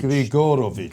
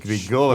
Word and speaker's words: Grigorovich: But you have to say it like Richard Keyes used to say Abramovich. You have to say Grigorovich. Grigorovich.